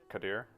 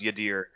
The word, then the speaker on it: Yadir: Uh, Kadir, are you here? Yep, I'm here. So, yeah. By the way, sorry. His name is pronounced Yadir. Yeah, dear.